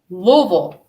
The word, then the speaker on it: Louisville: back out of w louville that's how you say it people do not try to pronounce not one word but the first L one letter but the first l l the S is silent that's how like you